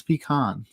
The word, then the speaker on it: pecan: I learned that and the proper pronunciation of pecan this weekend. Or this week. I'm learning a lot. It's pecan. I'm not getting into that.